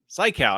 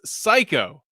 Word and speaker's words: Cayko: Cayko. I said it wrong. Well, Lance Cayko. You got to say it right. You got to commit to it. That's how you say his name.